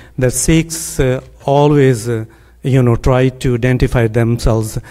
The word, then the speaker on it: Sikh: Second, Sikh word is not Sikh, it's not Sikh, it's Sikh. It's like Mikhail. KH is spelled, if pronunciated as just like you will say Mikhail. That K is a Sikh.